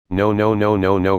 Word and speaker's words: No: Wherever in the world a poor man goes, no vacancy. No pronounced to rhyme with door.